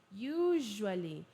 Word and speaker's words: usually: I usually tem som de J. J. J. Usually.